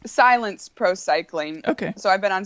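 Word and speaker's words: Cylance Pro Cycling: It's pronounce it because it's sort of an interesting spelling. Yeah, it's Silence Pro Cycling.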